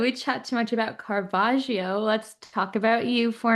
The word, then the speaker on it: Caravaggio: And you did a perfect job pronouncing I did? Caravaggio. Yes. Caravaggio?